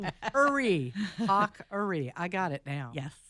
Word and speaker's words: Haughery: the GH is a hard Irish K.